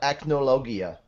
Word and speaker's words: Acnologia: Igneel versus Acknowledger. I'm so happy. Oh, I know. No, I've heard people actually call it Acnologia, which is actually how the Japanese pronounce it, but I think I